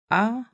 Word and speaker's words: akuzativ: Dative, but in Czech I will pronounce it dative. Dative. The fourth one would be the accusative, but I will say akuzativ.